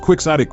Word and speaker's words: quixotic: kote as its basis why is it pronounced quick sotic when it should by right/ origin be pronounced ktic it even sounds more automat poetic the latter way as it resembles in its sorous qualities chaotic which suits the subject